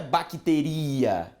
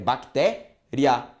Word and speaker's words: bactéria: E a pronúncia não é bacteria, é bactéria. Ou seja, o som mais forte é do I, o I é só uma vogal de apoio. O A é a vogal mais forte, tudo bem?